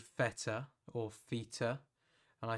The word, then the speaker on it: feta: getting out of it feter is is a angle unit for the angle no it's so feta no because it's feta is what it is pronunciation is